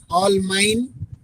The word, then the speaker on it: Allemagne: Germany का spelling ALLEMAGNE, ऑल माइन, spine.